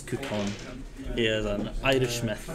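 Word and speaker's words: Cú Chulainn: Yes, for anyone who is wondering, yes, the pronunciation is Coupon.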